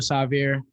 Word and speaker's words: Sahvir: i want to say it's still savior um you said it wrong my name is sorry